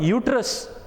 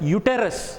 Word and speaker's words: uterus: That is called uterus. Some people call it as uterus. Okay, it is wrong pronunciation. Should tell you it is called uterus, or it is also called womb of a mother.